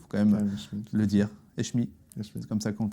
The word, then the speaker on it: Hechmi: Eshmi, c'est comme ça qu'on le prononce.